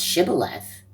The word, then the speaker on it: Shibboleth: Why couldn't they pronounce Shibboleth? Right? Why couldn't they pronounce that password? They couldn't pronounce the sh sound. They could just pronounce the s sound.